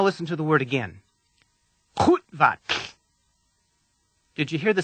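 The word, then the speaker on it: Qu'vatlh: The word begins with the common Klingon sound To make this sound, put the back of your tongue as far back into your mouth as you can. Then force the air up harshly as if you're trying to dislodge a piece of food.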